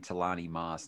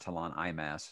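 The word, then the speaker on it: T'lan Imass: me feel good about saying talani moss not tell on eye mass so there you go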